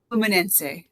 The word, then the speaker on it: Fluminense: So we brought up you pronounced it correctly. Could you do that again for me? Fluminense.